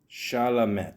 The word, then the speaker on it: Chalamet: How do you pronounce this guy's name? Timothy Chalamet.